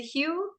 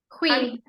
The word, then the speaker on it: Hui: And then and it's pronounced, is it Hugh? Hui. Hui? Uh-huh. Hui. Can he hear me? Is he there? He went to go close his door. It's like a sneeze.